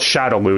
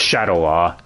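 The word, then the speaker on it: Shadaloo: hadouken not hadoken but hey they got shadowloo pronounced correctly yeah with the games they're more accurate they call it shadowloo instead of Shadow law so who's that bison's dialogue though with his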